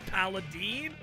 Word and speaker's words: Paladin: Why does he pronounce Paladin? Alright, who is the Stream Raiders partner? Come on, dude. You think Stream Raiders would just give someone partner who doesn't know it's pronounced Paladin?